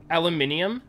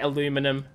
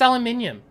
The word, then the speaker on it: aluminium: forgot where we were aluminium yeah that's how you spell it i mean spell pronounce it i know you people in america say aluminum but it's aluminium you're wrong i'm sorry